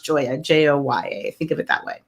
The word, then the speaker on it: Gioia: that so it's spell Koya but it's actually pronounced Jo a Jo ye think of it that way so I'm excited